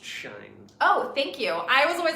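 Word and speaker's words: Shein: will photograph she alone says it's pronounced shine oh thank you I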